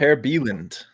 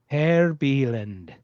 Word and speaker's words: Per Bieland: Per Bieland, if you use the Swedish pronunciation. Per Bieland.